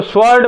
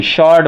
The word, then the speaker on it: sword: आप देखेंगे SWORD, ये शॉर्ट होता है, बहुत से लोग इसको स्वॉर्ड बोलते हैं, शॉर्ट मीन्स तलवार, लेकिन नहीं जी, इसको क्या बोलेंगे? शॉर्ट बोलेंगे आप।